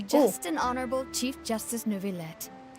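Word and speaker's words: Neuvillette: have the absolutely just and honorable Chief Justice Nouvlet. Oh, so that's how you pronounce his name. New Vlet.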